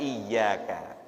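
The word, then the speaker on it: إِيَّاكَ: Hati-hati dalam membaca iyyaka, usahakan tasydidnya kita tunaikan.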